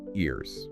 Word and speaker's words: ears: The sound here often becomes a bit like a Z. So think ears.